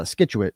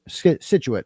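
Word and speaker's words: Scituate: She's initially from uh Skitu Situit as it's pronounced, but was just a diehard who one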